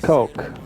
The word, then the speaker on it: Koch: Robert Koch. It's pronounced Coke. We know because of the Koch brothers.